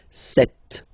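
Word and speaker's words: sept: Then here, remember, P is not pronounced. Okay, it doesn't exist. So you get this set sound.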